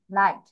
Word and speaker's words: light: বাট এখানে সেটা উজ্জ্ব আছে, এখানে সেটা উচ্চারণ হচ্ছে না। LIGHT, লাইট।